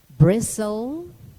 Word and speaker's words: bristle: etc in word spelling the alphabet letter t is silent when preceded by a letter s in the terminations t e n and t l e as in moisin listen grissom bristle or whistle it is silent also